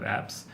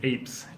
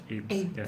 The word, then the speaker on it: Apes: for the planet of apps the pronunciation is Apes Apes Apes more of a long a aims episodes like it